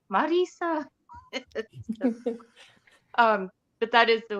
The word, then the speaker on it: Mirriam: Erin I love how you say my name Marisa um but that is the way you say